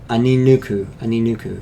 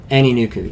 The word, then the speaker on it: Aninuku: Come to the Anuku clan, the Aninuku, yeah, Aninuku, yeah, that's right. That's how you pronounce it.